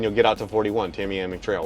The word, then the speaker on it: Tamiami: Our older kids just moved here from Orlando, and they keep stumbling over pronouncing Tamiami Trail. I'm like, no, it's Tamiami.